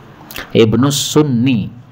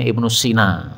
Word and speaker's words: Ibnu Sunni: Siapa yang meriwayatkan ini Ibnu sunni Karena dulu saya masih kecil bacanya Ibnu Sina salah ya kalau Cina itu tidak pakai ya gini tapi pakai Alif Cina pakai ya baik kita lanjutkan 247